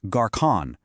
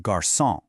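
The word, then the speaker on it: garçon: It's a signal to pronounce it as a soft s sound. So without it, the word garson would be pronounced gar with a hard k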